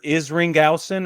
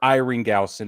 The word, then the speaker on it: Isringhausen: Jason, it's either Isringhausen or Iringhausen if the S is Isringhausen. Yeah, Isringhausen.